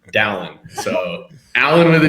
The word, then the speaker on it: Dallin: I always have to tell people it's Alan with a D, Dallin.